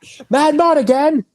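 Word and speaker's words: Madmartigan: Oh yeah, you have to say how Warwick Davis says it. Yeah. He put so much emphasis on the first syllable. Mad Mardigan.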